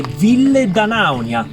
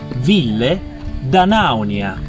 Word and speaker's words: Ville d'Anaunia: Un brindisone alla bellissima Ville Danaunia, posto con laghi cristallini, cime maestose e salami dai nomi strani. E questa è Ville Danaunia.